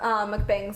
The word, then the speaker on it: mukbang: she's the queen of mukbangs, so like the queen of it. I am absolutely obsessed McBangs?